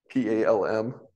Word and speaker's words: palm: But like certain words like PALM. We always said palm. We never pronounced the L.